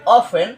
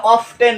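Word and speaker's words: often: পাইলাম কিল এরপরে হচ্ছে জেনারে পাইলাম ওতে অকেশনালিতে অফেন এটা অফটেন নয় উচ্চারণটা কি অফেন কি উচ্চারণ অফেন অফেন বলেন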